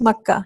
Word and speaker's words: Makkah: with a ma yes the pronunciation for us is in Arabic it's maka yes ah that's good